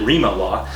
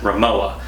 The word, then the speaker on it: Rimowa: a japanese company and i thought that you pronounced it Rema law but actually it's a german company and you pronounce it Rimowa the company is a very old company and